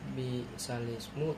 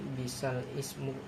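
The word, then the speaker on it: بئس الاسم: Jadi cara membacanya memindahkan harakat kasrah sehingga bunyinya bukan bisal ismu tetapi bisalismu.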